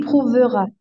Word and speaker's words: prouvera: Il prouvera. Il prouvera, en fait, on ne prononce pas le E, on l'écrit, donc il Prouvera.